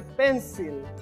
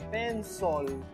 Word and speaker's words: pencil: Mucha gente dice pencil, pero no es pencil. Se pronuncia pencil.